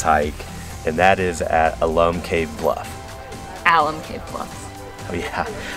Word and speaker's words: Alum Cave: of Alum Cave and we are choosing to believe that when they were naming Alum Cave they wanted to name it after this guy Al but they weren't sure if they should call this a cave or not so when they were naming it they said let's name it Al um cave and that's how we're going to remember the pronunciation okay we've had our